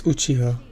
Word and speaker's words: Uchiha: I do not know because they can't pronounce the name Uchiha. You also cannot. It's Uchiha.